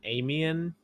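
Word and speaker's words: Aimian: he's described or he he's an amian is how they say it okay okay um i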